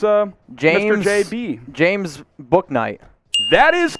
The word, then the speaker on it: Bouknight: guys uh is uh james or jb james book knight that is correct that is one james book